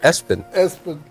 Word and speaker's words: ESPN: ESPN or his daughter he named her ESPN but they pronounced it Espen yeah yeah but he